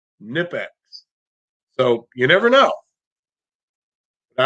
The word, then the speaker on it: Knipex: Your first thought is Nipex, but I saw a shirt not that long ago, or I saw a thing on Instagram from Knipex, and it was a shirt, and it said it's pronounced Knipex.